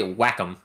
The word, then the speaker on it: Wacom: supposed to pronounce it I say Wacom like a whack-a-mole oh yeah welcome but